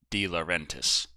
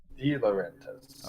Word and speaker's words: De Laurentiis: Darius De Laurentiis says, FYI, it's pronounced De Laurentiis. De Laurentiis.